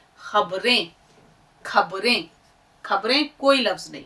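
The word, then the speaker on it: خ: खे, खे, बार बार बोलिएगा, खे, खे, खे, हलक से आवाज निकलनी चाहिए। देखिए साथ साथ जब तक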